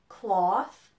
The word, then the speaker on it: cloth: nose hope and low now listen to the difference between cloth and clothes do you hear it a o cloth clothes okay so that's the pronunciation difference now how are they